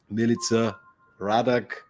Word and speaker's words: Milica Radak: be here today with Milica Radak, and I'm really hoping I pronounced this name correctly. Yeah, you did beautifully, actually. I haven't heard it pronounced that close to correct in quite a while.